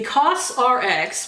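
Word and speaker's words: COSRX: wrong for years apparently the costs are X which rx prescription makes sense advanced snail 96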